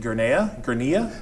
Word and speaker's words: Gurnea: Is it Gurnea? We say Gurney, so Gurney.